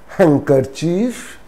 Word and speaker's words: handkerchief: sound in these words for example hankerchief it's not hand car chief hankerchief pretend that d is not there and you know that the very informal term for handkerchief is hanky even hanky so the pronunciation is handkerchief not handkerchief hankerchief handsome handsome it's not